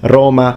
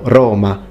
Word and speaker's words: Roma: it back in the day would be with an open O, longer of course, so Roma, Roma rather than Roma. As a modern day Roman, he would naturally say Roma, but now here he's pronounced it Roma with an open O, and it's great.